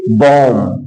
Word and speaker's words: bomb: BOMB, यहां बी के पहले यम आ गया है तो बी का उच्चारण नहीं किया जाएगा, इसको बोलेंगे बॉम।